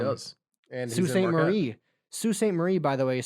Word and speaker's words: Sault Ste. Marie: Sault Ste. Marie, by the way, is spelled Saulteste Marie. Pronounced Sault Ste. Don't ask me why. I will not. Also, there's Sault Ste. Marie, Ontario, which is right across the bay.